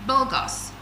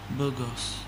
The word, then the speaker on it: bogus: Um 35 says bulgos. Burgos meaning false not real or not legal. B O U C I I can't hear you. B O U C I O U S. Pronounce it boogers.